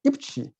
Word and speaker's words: IPQR: us uh you know ipqr pronounced as the ipchi and very similar to that korean dish kimchi so so you said